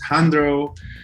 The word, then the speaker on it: Jandrou: it's j-a-n-d-r-o-u um and the J is silent because I am originally from El Salvador I am Latino and